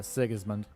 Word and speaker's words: Sigismund: was that the your Barbarian name am I pronouncing that correctly yeah sigismund sigismund is one of 16 so in instead